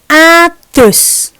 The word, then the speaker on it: adus: Kata yang pertama dibacanya adus. Lihat lidahnya. Adus. Adus. Oke, kata yang kedua wedus. Wedus. Jadi perbedaannya adalah D dan D.